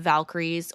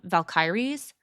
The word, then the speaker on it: Valkyries: probably aware of the Valkyries, or I think I even heard it pronounced Valkyries. Yeah. Actually, is how the natives would have said it.